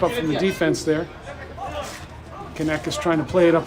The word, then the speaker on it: Caneças: But if you look at the spelling of the word, it's got the line down the bottom of the C. And in Portuguese, that means you pronounce that as an S, Caneças.